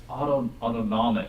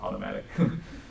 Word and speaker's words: autonomic: Oh no, it's autonomic. I keep pronouncing it wrong. So autonomic. Don't say automatic.